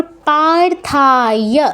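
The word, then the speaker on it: পার্থ: কি আছে? পারথা। ঠিক আছে? পাতে দীর্ঘ হবে। থাতে দীর্ঘ হবে। যেহেতু আকার আছে। তারপর অবথায় বলবো না। ই আছে ই বলতে হবে।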